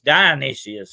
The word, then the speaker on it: Dionysius: That name's come from Dionysius, and Dionysius, actually, is how you pronounce it.